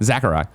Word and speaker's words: Sakurai: Ultimate creator and director Sakurai. That's how you say it. Sakurai. You say it with a Z, though. No, I don't. Sakurai. I don't do that.